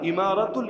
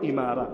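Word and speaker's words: إمارة: দিয়েছে কি ইমারা আল ইমারাতুল ইসলামিয়া একই ভাবে ওই যে আরবে আমিরাত নাম নাম শোনেন নাই? শোনেন নাই? ইউনাইটেড আরব আমিরাতস ওই এমিরাত যেটা আমিরাত যেটা ওইটারই আরবি উচ্চারণ হলো ইমারা। মূল উচ্চারণ ইমারা।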